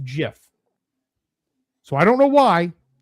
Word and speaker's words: GIF: So, the G comes from graphics and that's why people think that it should be a hard G, but the creator of it says it's pronounced GIF.